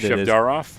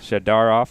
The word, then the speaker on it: Shevdarov: Shevdarov. Shevdarov. There we go. The T always throws me off every time, but Shevdarov, Miranda, Stolarski, Davis, and Yakchak.